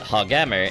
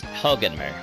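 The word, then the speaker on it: Hoganmer: Um, it's not Hogammer, it's Hogenmer.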